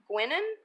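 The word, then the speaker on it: Guinan: of this lady named Marie guenon I believe is how you pronounce it she was a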